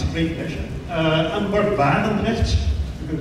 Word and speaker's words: Barendergt: I'm Bart Barendergt. You can call me Bart. I realize that the name Barendergt, it's a very Dutch thing to pronounce, so forget that.